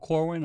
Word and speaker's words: Corwin: Corwin.